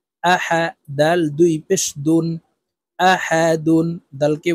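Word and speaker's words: أحد: আ হা জবর হা আহা দাল দুই পেশ দুন আহাদুন দালকে ওয়াকফুর ক্ষেত্রে সাকিন করে ফেলবো আহাদে দাল যেহেতু কলকালার হরফ নিচের দিকে ধাবিত করে ধাক্কা দিয়ে উচ্চারণ করব আহাদে কুলহু আল্লাহ আহাদ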